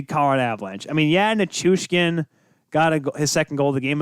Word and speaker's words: Nichushkin: Oh, Nichushkin. I did spell that right. Or so this. Okay. Okay. So in the notes, I spelled it wrong the first time. Second. Nichushkin.